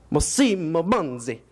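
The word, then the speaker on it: Massimo Banzi: and she was like, you're not saying it with the Italian accent. So, just a minute. And his name was Massimo Bandi.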